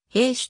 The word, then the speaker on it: ヘッシュ: 合衆国の女優英語では名字を兵士と発音するアメリカが集国